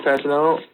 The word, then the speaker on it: Fasanello: Yeah, it's like Dr. Jello. But I had to unlock my phone. Hang on. That's how I learned how to say it. It's like I put Jello and together with Dr. Fasinello. It's Fasanello.